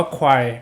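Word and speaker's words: choir: นะ ครับ ควาย เนี่ย c h o i r เขา อ่าน ว่า ควาย นะ ครับ แต่ ว่า ละ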